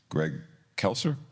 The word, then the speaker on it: Greg Kelser: that had Magic Johnson and Greg Kelser. Am I saying that right? Yeah, you're saying it right.